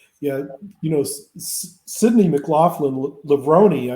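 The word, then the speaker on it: Levrone: you know Sydney McLaughlin lebroni I believe is the how she pronounced or how her married name is pronounced the thing that hurts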